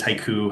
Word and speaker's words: HYCU: Well, for those who might be thinking, well, what is haiku? How do I actually pronounce that? Is it a Japanese poem? What is it? Well, it's HYCU. It's how it's spelled, but the company is called HYCU.